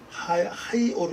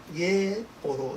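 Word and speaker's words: היאור: 하이 오르 이렇게 발음하죠. 예, 정거사가 없을 때는 예오르 이게 발음하고 여기 정거사 때문에 하이라고 발음하죠. 하이오르 이렇게 발음합니다.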